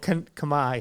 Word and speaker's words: Khmer: Oh, Khmer.